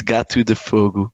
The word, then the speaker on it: Gato de Fogo: would make more sense it's actually portuguese yeah it's got to defogo there you go guys